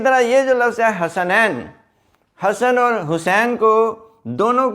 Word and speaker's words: حسن: HASSAN، ایسے نہیں ہے، کیونکہ یہ جو سین ہے اس کے اوپر شد نہیں ہے، زبر ہے، یہ اس طرح ہے حسن، تو سپیلنگ اس کے